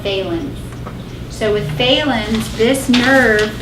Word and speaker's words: Phalen's: So Phalen's is flexion, compression of the nerve. It would work better if they spelled it with an F, but they spell it with a P, so I'm sorry.